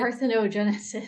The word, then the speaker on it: parthenogenesis: The I can't pronounce the scientific term. The Oh, cryo, what is it? parthenogenesis.